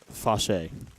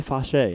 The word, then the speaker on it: Fausch: I'm gonna pronounce that Fauché. So Emily Fauché in for number 14.